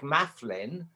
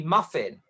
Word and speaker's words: Maflin: And I was like, Mafflin.